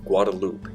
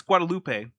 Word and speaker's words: Guadalupe: There were at least six different skeletons found on the island of Guadaloop in the 1800s. It's It's Guadalupe, Matt. That E is not silenced because because of Spanish.